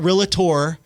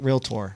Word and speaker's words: realtor: the way thank you not it's not realator or realtor it's realtor right real tour Round of Applause there